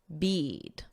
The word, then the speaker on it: bead: So this EA is pronounced as the long E, bead.